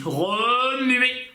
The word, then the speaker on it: remuer: Remuer, remuer le popotin en faisant coin coin. Remuer du popotin en faisant coin.